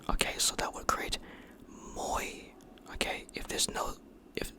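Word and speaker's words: мой: And this one, now this I mentioned in my previous video is pronounced moy. Okay? Moy. M for m, o for o.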